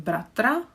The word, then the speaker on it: bratr: So 2 syllables. The r again is creating this syllable.